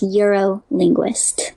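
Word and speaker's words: Eurolinguiste: It's the French way of saying linguist, so it's also linguist, and it's Euro-linguist.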